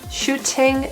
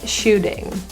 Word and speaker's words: shooting: The T in shooting is pronounced as a flat T or a D sound because it's followed and surrounded by vowels. Shooting, shooting.